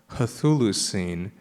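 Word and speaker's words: Chthulucene: t hu L hu she has added an H so hers is c h t h l u h u c NE see the point I was making earlier about heteroglossia but what does it do so well for one thing it adds a breath instead of saying culu saying Hulu it's making a breathier sound there um it also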